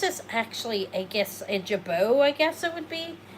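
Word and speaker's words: jabot: Okay, this is actually I guess a jabau I guess it would be.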